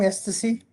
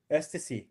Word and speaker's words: Estie: Was I saying her name wrong? Estie? Estie. Estie. I guess I was. I thought it was Etsy, but it's not. Yeah. It's ST. Estie.